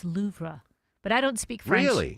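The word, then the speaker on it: Louvre: Loura. So the French it's so it's a delicate R at the end of it. It's not Louv. We always say Louv, but it's Loura, but I don't speak French.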